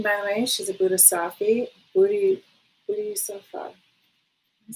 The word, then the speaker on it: Bodhisattva: She's a Bodhisattva.